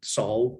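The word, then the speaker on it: Salle: keith herring so david sally i'm also a david sally some people pronounce it saul but i i love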